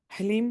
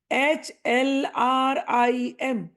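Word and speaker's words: ह्लीं: अगर नहीं हो पाया, हलीम चल जाएगा। HLRIM, ये सही उच्चारण है। अगर उच्चारण करने में तकलीफ है तो HLEEM, ये भी उच्चारण चल जाएगा।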